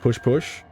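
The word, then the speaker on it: pouche-pouche: In Canadian French, it's pooch pooch, pronounced push push.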